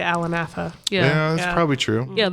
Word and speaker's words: Atha: Over there it's pronounced Atha, which is how often people pronounce my name.